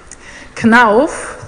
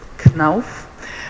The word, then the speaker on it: Knauf: KNAF, this is how you pronounce it, KNAF, is a family-owned enterprise.